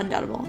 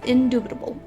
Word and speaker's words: indubitable: or is undoubtable no it's not undoubtable it's indubitable for sure it's indubitable okay sorry indubitable